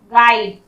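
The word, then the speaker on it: guide: गाइड, गाइड इसमें भी यू का साउंड नहीं हो रहा, मार्गदर्शक।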